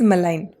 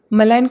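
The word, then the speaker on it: malign: First word is मलाइन। मलाइन का जब आप प्रोनाउंसिएशन देखेंगे, जी यहाँ पे साइलेंट है।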